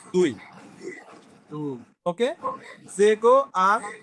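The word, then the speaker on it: zéro: এখন পড়াশি সংখ্যাটা আমাদের কাছে ইংলিশে বলে হচ্ছে জিরো দ্বারা এনে কুই জিরো, ওরা বলে হচ্ছে জেগো।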